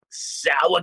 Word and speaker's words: Sowah: now you're missing out, sour cough, and it's spelled SOWAH. It's really sour. It's like exactly how I say it.